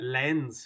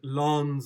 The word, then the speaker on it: Lens: three lost two elections pretty sure it's pronounced not not a main lens for a glass or something i actually thought he was talking about leon i was like that's a terrible pronunciation but you look at you look at lons or whatever it is holy and then you